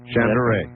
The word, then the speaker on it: Shandera: Let me say it correctly. Shandera. That's well, I don't want close. to disrespect him. Is that correct? Shandera. Yes, thank you.